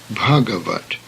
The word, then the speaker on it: Bhagavat: The Sanskrit words should be pronounced in the same way. The first example is Bhagavat, meaning illustrious, divine.